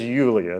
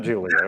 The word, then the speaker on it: Yulia: It was Well, my wife's name is Yulia, not Julia.